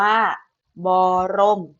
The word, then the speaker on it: บรม: ประสม กับ สละ อออ ฉะนั้น ตัว บ่อ ตัว นี้ ให้ ออก เสียง ประสม กับ สละ บอก อะ ออก ก็ คือ บ่ รอ อก มอ รม เพราะ ฉะนั้น คำ นี้ อ่าน ว่า บรม นะ คะ บรม ต่อ